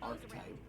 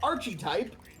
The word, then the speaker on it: archetype: Archetype, you are not hard pronouncing the H, so there's no reason to pronounce the I like that. It's not Archie type.